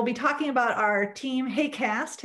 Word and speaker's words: HAQAST: talking about our team hey cast as we pronounce the funny acronym um this is a